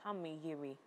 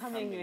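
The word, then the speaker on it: Kangmeyiri: Kameyiri. Yes. And Kameyiri is spelled K-A-N-G-M-E, then Y-I-R-I, Kameyiri International.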